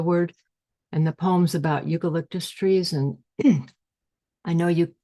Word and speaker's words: eucalyptus: Eucalyptus, my mother and sisters would enunciate to me over and over. It's not clear when I finally pronounced all 4 syllables like the French botanist, but as a small